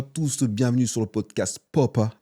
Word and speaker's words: Poppa: Hello, bonjour à tous, bienvenue sur le podcast Papa, à prononcer Papa et pas Popa, parce que sinon ça n'a aucun sens.